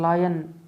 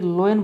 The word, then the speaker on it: lion: तो नया वर्ड बनेगा LION, इसे कहते हैं लायन, लायन, लायन। ज़्यादातर लोग इसे लोयन बोलते हैं, ये लोयन नहीं लायन है, लायन।